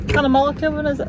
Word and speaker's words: Cunnamulla: We're just on the outskirts of Cunnamulla, is it called Cunnamulla, Kevin? Is that how it's pronounced?